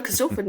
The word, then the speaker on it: Corstorphine: Corstorphine, It is spelled Corstorphine. Yes. No, Corstorphine, you nailed it.